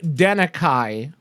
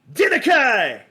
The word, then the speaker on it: Denakhai: I have never forgotten that pronunciation of my last name. Never. So I thought that was kind of cool. And so I kind of forced the pronunciation using the K and the H and the A and the I. And I was using it